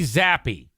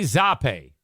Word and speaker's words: Zappe: Your third string quarterback is Bailey Zappi. Zappe. Is that Zappi? I mean, it's spelled like frappe. Maybe it's Zappe. Bailey Zappe.